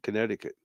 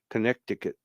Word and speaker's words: Connecticut: you said it right the C is silent Connecticut Connecticut it's I just always